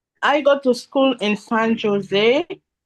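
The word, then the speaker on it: San José: I go to school in San Jose. San Jose. It's Jose. It's pronounced San Jose.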